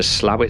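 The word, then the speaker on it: Slaithwaite: Soon we're crossing the Crimble Viaduct on the approach to Slowett Station, and yes, that is how you pronounce it.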